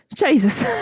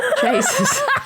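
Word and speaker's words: jayus: there's an Indonesian word it's just spelled Jesus Jesus well I know how you say it but I'm just imagining Jesus it's an unfunny joke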